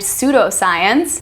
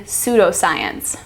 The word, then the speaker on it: pseudoscience: broad examples we have the initial PS as in Psychology and pseudoscience those are silent the p in Psychology and the p in pseudoscience we have the final